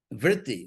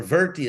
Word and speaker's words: vritti: Vritti, or virti, it's pronounced, which we still have in English, by the way. Chitta virti, we still have the word in English. It's come down unchanged in English in words like revert, pervert, invert, extrovert, and all that.